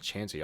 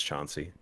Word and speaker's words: Chauncey: next so this is It's not chancy like how do you pronounce that is it Chauncey I don't know yes it is a u yeah I'm sure it's Chauncey okay um so he